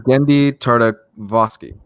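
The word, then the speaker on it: Genndy Tartakovsky: The creator is Gendy Tartakovsky.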